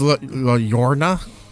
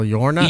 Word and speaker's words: La Llorona: It's La Llorona. La Llorona? Llorona. 2 L's is L-Y, right? It's like an E sound.